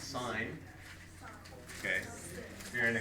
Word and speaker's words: sin: letter sign is s i n which is pronounced sign okay if you're in a Catholic School it's